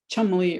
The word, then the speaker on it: Cholmondeley: And this is, typical English town names are known for being sort of ridiculous, like this long spelling of Cholmdley, or will be said Chumley or something like that.